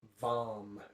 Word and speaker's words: VAM: Its sound is VAM, V-A-M.